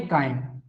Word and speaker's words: chyme: भोजन को हम बोलेंगे कायम। क्या बोलते हैं, कायम बोलते हैं। स्पेलिंग इसकी होती है CHYME, सी, कायम कहा जाता है।